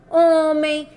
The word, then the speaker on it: homem: estamos escutando do Ó homem calçãozinho do Ó asa do ar certo porque o h gente diz que no início é uma letrinha muda e vamos continuar Então